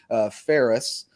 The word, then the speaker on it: Phares: Colton Phares, and we have confirmed the correct pronunciation on the last name finally. Phares. Like Ferris Bueller, right? So easy to remember.